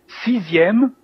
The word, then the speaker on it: sixième: Sixième, again, our X is like a Z, sixième.